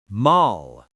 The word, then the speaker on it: mal: And for l maul, bad. You hear the l sound.